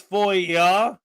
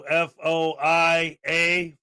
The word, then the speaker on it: FOIA: seriously asking the question it's foia Freedom of Information Act so f-o-i-a foia um and a foil